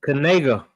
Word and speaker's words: Knigga: That's that's going to be something to watch unfold with uh Kigga. Kigga, you know how you say it again? It is. It's Kanega.